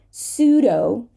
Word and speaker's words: pseudo: So we have a silent P in the following words. Pneumonia, right? An inflammation of the lungs. Pneumonia. Pseudo. Psychology, not P, right?